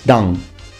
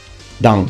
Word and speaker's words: Dan: So, you say Dang. Dang. Full name on its own. His surname is pronounced Hibiki.